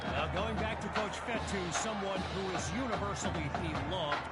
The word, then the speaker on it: Fetu: second down so coach fetu spelled Fe Tu for the longest time I was pronouncing it coach feta like Feta cheese so let's just say